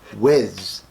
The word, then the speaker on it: Whis: I heard Frieza say it in the episode, Whis.